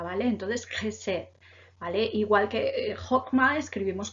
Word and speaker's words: Chesed: La CH en hebreo se pronuncia entonces como una KJ, ¿vale? Entonces Chesed, ¿vale?